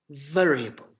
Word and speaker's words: variable: Feature, sometimes called as variable. This is the correct pronunciation of this English word. Some Turks pronounce it in a very different way, but this is the correct way.